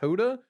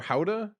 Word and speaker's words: gouda: the person's talking about this is an aged gouda yes i know it's pronounced hoda or howda however you say it and she says luda